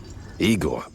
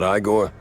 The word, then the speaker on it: Igor: Igor, not Iiggore.